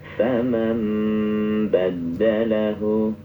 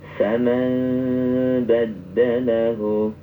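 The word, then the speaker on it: فَمَنْ بَدَّلَهُ: Faman badalahu. Ada juga yang cara membacanya itu tidak rapat betul. Jadi bibir itu masih ada celah udara. Faman badalahu.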